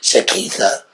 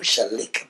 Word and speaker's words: Shaleka: Now, I'm going to say it wrong, because I've been saying Shakitha, but it's Shaleka.